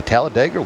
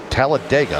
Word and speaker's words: Talladega: The Tallaladega winner. Talladega. I said it wrong again.